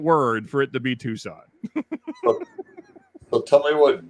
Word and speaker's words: Tucson: right don't valid toxin if it's Tucson that's not how you spell Tucson everyone knows that why is there a c why is there a c there's there's no C doesn't